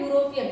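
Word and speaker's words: European: इसमें क्या है कि यूरोपियन, इसका प्रोनाउंसिएशन आता है, इस वर्ड का फर्स्ट लेटर जो है एक कॉन्सोनेंट है और वॉवेल है और इसका प्रोनाउंसिएशन ए यानी कि यू आ रहा है, यू, तो इसके साथ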